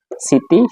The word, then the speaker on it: স্মৃতি: আমরা মফলার এক নম্বরটা নিয়ে আলোচনা করেছিলাম যে মফালা শব্দের শুরুতে আসলে মফালা উচ্চারিত হয় না। যেমন স্মরণ স্মরণিকা স্মৃতি শ্মশান।